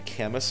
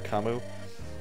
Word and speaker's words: Camus: I used to call it the Camus archetype, but I guess it's pronounced Camu, or Kamu.